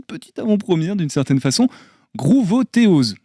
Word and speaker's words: Groovothéose: avant-première d'une certaine façon grouvotéo je le prononce à la française mais peut-être que c'est pas la bonne prononciation si si c'est exactement ça gr ouais grouterose c'est